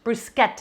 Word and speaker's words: bruschetta: bougie when i say this that's how it's pronounced bruschetta anything with that ch is a cook in